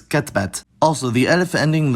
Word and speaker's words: كتبت: I wrote and you masculine wrote are both katabt, but she wrote is katbat.